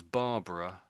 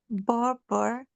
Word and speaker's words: Barbara: So we see so it looks like barbar then an extra a on the end but it is normally pronounced as Barbara Barbara Greenberg. Just said it again like that for me. Barbara Kberg is very difficult.